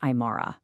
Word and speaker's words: AImara: First off, it's pronounced AImara.